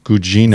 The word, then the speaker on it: Gugino: Gugino.